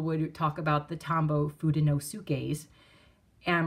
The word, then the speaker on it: Fudenosuke: the Tombow Fudenosukes, and my daughter about had a temper tantrum. She was like, that is not how it's pronounced. And so she corrected me. Now I have to say Fudenosuke. And because of that, every time I hear Fudenosuke, I'm cringing right along with my daughter.